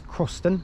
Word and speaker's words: Crossens: So anyway, our next stop is Crossens, pronounced it right that time, and we'll update you when we get on the train to go there.